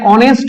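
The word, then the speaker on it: honest: hotel historian সব বসাচ্ছি কিন্তু যখনই আমরা এখানে অনেস্ট বলছি এটাও কিন্তু এই দিয়ে শুরু হচ্ছে উচ্চারণটা হচ্ছে এর মত আ এর মত বা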